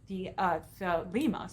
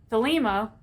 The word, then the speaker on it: Thelema: of Lon Milo DeQuette's things, and he says Thelema. So when I've been pronouncing it the other way, that's been wrong. So I want to correct myself. Thelema, according to Thelema, there are three major aeons that are the focus.